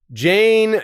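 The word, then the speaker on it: Jeyne: Jane. Jane. It rhymes with airplane.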